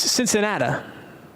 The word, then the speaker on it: Cincinnati: Just like Louisville is Cincinnati, it's Cincinnat. There'll be no arguments on those two pronunciations.